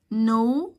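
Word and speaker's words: know: no الكي سايلنت.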